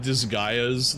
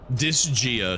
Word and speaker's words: Disgaea: I thought Disgaia's leveling was ridiculous. I've never played Disgaea. Disgaea, sorry, that's how you pronounce the real name.